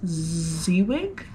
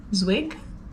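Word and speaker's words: Zwieg: But anyways, the deadline for my, I think it's pronounced Zwig, Z-W-I-E-G, Zwig.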